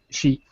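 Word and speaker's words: し: it's counted as zero because in Japanese uh she means death you know it's pronounced the same way as death so they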